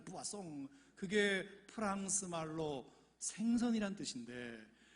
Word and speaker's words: poisson: 아이고, 그러면서 깔깔대고 웃으면서 환자분이 읽으신 것은 포이즌이 아니라 부아송이잖아요. 부아송.